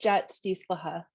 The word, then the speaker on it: Jaat Sdiihltl’lxa: It's pronounced Jat Stithlaha, Woman Who Returns.